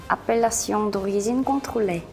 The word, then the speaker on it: Appellation d'origine contrôlée: 오리지널 발음을 한번 가시죠. 예. Appellation d'origine contrôlée.